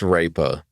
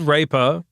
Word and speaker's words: RAPR: It's often shortened to RAPR and it's pronounced Raper. Okay. So, my retarded rape coin. Mainstream appeal on that one. Yeah, much. It's called Raper.